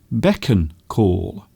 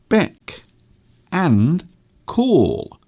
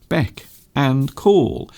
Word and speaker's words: beck and call: They often say beckon call. Beckon, as in, come here, come here. But, in fact, it is beck and call. Beck and call.